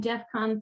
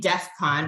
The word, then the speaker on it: DEFCON: of all that's a he said it wrong it should be it should be Defcon right it's like a military tactic of I I know very little about this but the term is Defcon not Defcon I'm sure